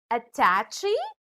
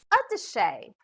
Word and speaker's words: attaché: Did you just say attache? The dictionary tells us that it should be pronounced as attaché.